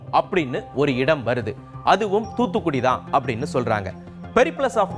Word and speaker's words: தூத்துக்குடி: தூத்துக்குடியை பற்றிய குறிப்புகள் இருக்கு தூத்துக்குடி அப்படிங்க கூடிய வார்த்தையை சரியா உச்சரிக்க தெரியாத ஐரோப்பியர்கள் அதை தூற்றுக்கு அப்படின்னு ஆக்கிட்டாங்க தூத்துக்குடியின் முக்கியமான உற்பத்தி பொருள்னா